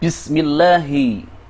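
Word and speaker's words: بسم الله: Ketika "Lam Jalalah" mengikuti kasra pada huruf mim, dibaca sebagai "tarqiq," yang berarti diucapkan dengan tipis.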